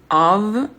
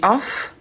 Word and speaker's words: of: Préposition conjonction de of, of. Oui, le F, on prononce comme un V. Si on dit off, ça serait ça s'écrit avec 2 F.